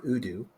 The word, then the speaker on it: Odoo: you're looking at some something like Udo which is or ODU depending I hear it both ways I never pronounce any